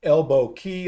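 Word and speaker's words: Elbow Cay: I think that's pronounced Elbow Key, although it's spelled C A Y and AI doesn't know the difference.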